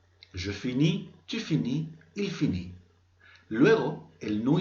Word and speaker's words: finit: Solo son letras que, por ejemplo, en los primeros casos no se van a pronunciar y luego en el último caso, los tres últimos, es una forma especial.